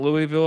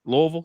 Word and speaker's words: Louisville: Louisville. Sorry. You got to say it like if you saying it right, you got to say it like you have marbles in your mouth. It's Louisville program.